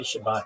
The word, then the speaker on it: Shabbat: And uh when I say Shabbat, that's the um that's the sphartic way of saying it.